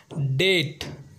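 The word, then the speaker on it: debt: है हमारा दूसरा एग्जांपल है डेट जिसका मतलब होता है उधार और इसमें बी साइलेंट होता है इसमें बी को नहीं पढ़ा जाता क्योंकि इसमें भी बी के बाद टी आया है हमारा तीसरा एग्जांपल है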